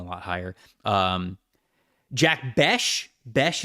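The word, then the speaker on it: Bech: higher um Jack bash bash is how you say his last name correct bash what I've heard all right so Jack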